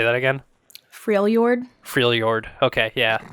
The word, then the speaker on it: Freljord: I never pronounced that correctly. Even in my mind when I'm reading it, I'm just like Frelhord. Oh no! Yeah, it's like based off of like Nordic and Slavic languages.